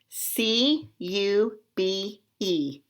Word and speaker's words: cube: word say the letters C u b e is silent you're right you gonna say its own name so let's blend these